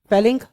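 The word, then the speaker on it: Fehling: इसके अलावा तुमको क्या पढ़ना है, ठीक है, फैलिंग सॉल्यूशन। फैलिंग ध्यान से समझिएगा, इसको फीलिंग मत बोलिएगा, फैलिंग है ये, ठीक है?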